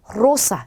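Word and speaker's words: rosa: 단어의 첫 글자에 왔기 때문에 로사가 아니라 로사 이렇게 굴려주셔야 돼요.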